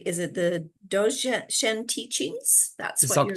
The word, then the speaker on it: Dzogchen: And now, for people who are popping on to say hello, and I'm going to not pronounce it correctly. Is it the Dzogchen teachings? That's what you're Dzogchen.